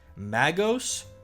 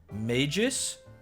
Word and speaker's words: Magos: and the maos purple okay guys m a g oos magos magos similar Bane Magis or magus MOS magos i' sometimes the kind of because it's Mage right m a g e Mage so why would it be a hard G Magus that's trash if I am a